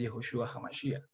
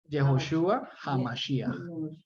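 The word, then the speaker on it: יהושע המשיח: De Jesucristo, de Yehoshua HaMashiach. Se manifestó, se dejó ver. Jesús no se pronuncia así. Yehoshua HaMashiach.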